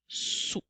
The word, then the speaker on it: sous: Rappelle-toi qu'il y a une lettre muette à la fin dans le mot sous.